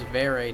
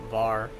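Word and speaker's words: Varré: is actually somewhat embarrassing I didn't know it was ver not VAR V ver interesting all right uh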